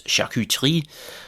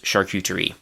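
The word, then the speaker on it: charcuterie: So the French pronunciation is shakutri something like that. Hopefully my French pronunciation has not decayed too much in the past several years since I've spoken it regularly, but the English pronunciation is actually again pretty close. Shuterie.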